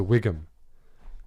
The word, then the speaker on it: WGM: A WGM, if you want to say it out loud, is a Wiggum.